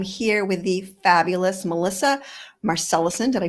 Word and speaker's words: Marcelissen: and today I'm here with the fabulous Melissa marcellusen did I pronounce that correctly you did very good yeah